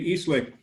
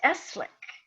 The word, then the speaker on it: Eastlake: appreciate the time and i need to correct you my name is pronounced esslik at the softie my